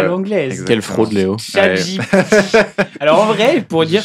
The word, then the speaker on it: ChatGPT: Donc, Ouh, je prononce reste. à l'anglaise. exactement. Quelle fraude, Léo. ChatGPT.